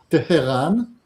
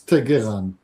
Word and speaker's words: Tehran: For example, you can either pronounce the city as Tehran, or you can pronounce it as Teheran.